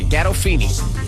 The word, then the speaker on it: Gandolfini: How do you pronounce it? Gandolfini.